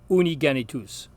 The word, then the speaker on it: unigenitus: It's just oo. Like for instance, the English word unicycle, with kind of a y in front of the unicycle, in Latin it would be uniciclos, if there is such a word in Latin. But there isn't, but you know. And so the Latin word, which means only begotten, is unigenitus.